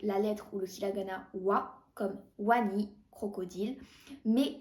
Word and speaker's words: は: se prononce avec la lettre ou le kilagana WA comme Wani crocodile mais s'écrit avec le kilagana ha par exemple Hana